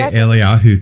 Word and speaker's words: Eliyahu: I just say Eliyahu because that's how you say it in Hebrew.